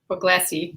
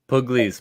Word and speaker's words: Pugliese: But I wanted to say to Mike Puglisi, is it Puglisi? Pugliese, but we'll go with Puglisi.